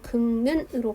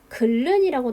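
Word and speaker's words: 긁는: 그러니까 극는의 표준 발음을 향해 가는 과정은 자음군 단순화를 통해서 리을을 탈락시키고 비음화를 통해서 최종적으로 극는으로 발음하게 되는 거죠. 반면에 비표준 발음 같은 경우에는 글른이라고 나와 있거든요.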